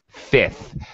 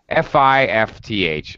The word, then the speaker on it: fifth: no I can't okay fi fth all right they'll attempt to pronounce the F don't worry about it you don't need to just fifth all right